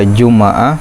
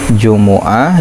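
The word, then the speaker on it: جمعة: Bisa jumu'ah, bisa juma'ah, bisa jum'ah. Jumu'ah, juma'ah, jum'ah gitu. Tapi umumnya jumu'ah.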